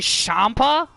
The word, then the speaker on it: Champa: Just not spelt like the Tommaso Ciampa, not spelt that way. It's actually spelt with a CH. So it's actually Champa, which is how they actually pronounce it, like Champa.